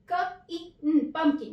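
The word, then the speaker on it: pumpkin: तो ये word divide होगा पंपकिन। इसमें P का जो साउंड है वो नहीं होता है, P साइलेंट है।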